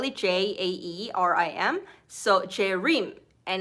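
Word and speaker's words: Jaerim: spell it j-a-e-r-i-m so cherim and it's hard for p for people to pronounce it because it's different so i said it's like dream but with j instead of d and that's um where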